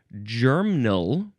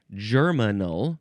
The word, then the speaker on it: germinal: You can say germinal or germinal, because there's an I in there, germinal. It's like a train terminal, an airport terminal, but it's a germinal.